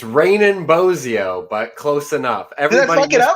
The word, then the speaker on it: Raanan Bozzio: yeah it's all good raining like it's raining outside and bozeo like bozo the clown so but yeah like